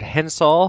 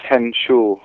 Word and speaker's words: Henshall: power unite and my guest today is richard hensall from the band haken did i pronounce that right han almost almost it's henshaw and sean h yeah that's right i got